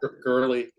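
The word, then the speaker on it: Goerli: and I'm just curious is it gorilla or go rally how do you pronounce that girly girly okay I've heard it pronounced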